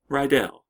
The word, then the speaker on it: Rydell: That is how you pronounce my last name. Actually, that's how I'm used to pronouncing my last name, Rydell.